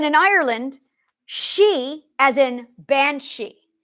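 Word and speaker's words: bean sí: she as in bansi bansi is spelled b e a n SI I there's a space ban B A an is woman this is going to get interesting there's a space it is not b a n s he I could slap some people that's Anglo-Saxon it's not that it's b a an that's van yeah that's right that's van Bea an is van in Old Irish that's van space SI Max a mark over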